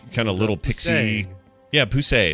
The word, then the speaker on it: Poussey: of little pixie yeah poussey is her name say yeah that's exactly how you say it thank you grew up